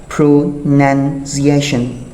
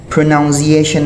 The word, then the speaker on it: pronunciation: ဘယ်လိုအသံထွက်ကြလဲ prunation ဆိုရင်မှန်ပါတယ် pronouncation prunation လို့ဒီကျောင်းသားတော်တော်များများအသံထွက်တာကိုသတိထားမိတယ်သူ့ရဲ့အသံထွက်သည်ဆိုတဲ့စကားလုံးက pronounce pronounce မာန်ပါတယ်ဒါပေမဲ့အသံထွက်ဆိုတဲ့စကားလုံးက pronunciation pronunciation pronounciation မဟုတ်ပါဘူး pronunciation for example what is the correct